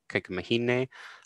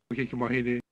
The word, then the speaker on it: kaikamahine: Words meaning sibling, so kaikua anna, kaikumahine, are spelled like an A-E, A-E, but pronounced more like an A, because you can hear here. Kaikumahine, kaikumahine.